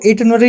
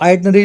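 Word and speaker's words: itinerary: इसको इटनरी भी बोल देते हैं और आइडिनरी भी बोल देते हैं। Depending on the country. England में हो या यूके में हो।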